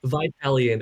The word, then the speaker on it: Vitalian: a series called the Vitalian Chronicles Am I pronouncing that right? I think Vitalian is what I've settled on —But, like, I haven't had to say it out loud to many people, so... —Vitalian, yeah —The audiobook will